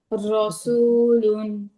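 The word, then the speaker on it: رسول: র র মোটা করে বলতে হয় আমাদের। হ্যাঁ রসুলুন। রসুলুন, রসুল আমার পরটা একটু খেয়াল করুন।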